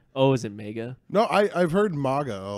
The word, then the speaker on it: MAGA: MAGA makes more sense to me because of like nothing AG is has ever been pronounced og, and also it sounds like mega.